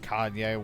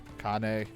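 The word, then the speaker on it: Kainé: more about the girl I always constantly mispronounce and said Kanye once. Kane.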